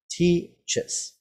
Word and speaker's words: teaches: Okay, again, when you only have the word teach, as in I teach, it is just one sound, one syllable, teach. But when you add ES to teach, you get teaches. Now it's two syllables, teaches.